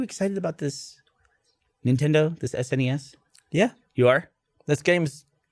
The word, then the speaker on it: SNES: How do you say the abbreviation? SNES. You do. You say SNES.